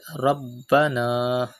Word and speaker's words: ربنا: Look at the word Rabbana. Pronounce ba with emphasis because ba is a qalqala letter and it is mushaddad.